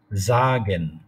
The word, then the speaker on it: sagen: If S is followed by a vowel, then it is pronounced like Zagen.